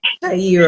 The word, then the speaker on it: Tahira: Shiara, I'm calling your name correctly. I felt I said it wrong. Tahira. Tahira. You, hold on. Tahira.